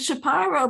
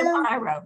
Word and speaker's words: Shapiro: Paula, how do we pronounce Shapiro? We pronounce it Shapiro because we knew Judy Shapiro. Yeah. But you hear a lot of Shapiro. Yeah. Shapiro, we went into what's the place in Shapiro?